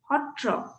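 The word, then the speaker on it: sattra: satria gets pronounced as hotriya satra s-a-t-t-r-a gets pronounced as hotro so ho this particular sound is very peculiar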